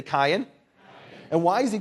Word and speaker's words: Kayin: Their son, Cain, in Hebrew is Cain. Say Cain.